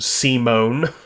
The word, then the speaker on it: Simon: Okay, so, pronounced Simone.